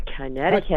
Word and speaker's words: Connecticut: from Connecticut maranne from Connecticut how come nobody ever says Connecticut how it's spelled though you know it's like uh you know wouldn't you say Connecticut or something you know or I